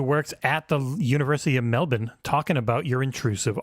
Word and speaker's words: Melbourne: at the University of Mell-bin talking about your intrusive R. Mell-bin. Yep. Mell-bin. University of Mell-bin. Melbourne. It's non-rhotic, meaning we only pronounce the letter R when it's followed by a vowel.